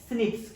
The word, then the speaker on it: SNPs: इसे क्या बोलते हैं, एसएनपीएस, सिंगल न्यूक्लियोटाइड पॉलीमॉर्फिज्म, या इसे प्रोनाउंस्ड कर सकते हैं स्निप्स। क्या बोल सकते हैं, स्निप्स बोल सकते हैं।